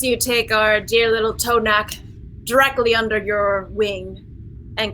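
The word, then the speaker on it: T'Onak: Tonak. T''ONAK. It's kind of it's how it's pronounced, yeah.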